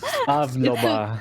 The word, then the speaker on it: Pavlova: Pavlova. Pavlova. Think of the dessert. Pavlova. Okay. Like the dessert.